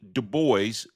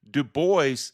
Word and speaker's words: Du Bois: Du Bois differently. I was pronouncing his surname as Dubois, as I had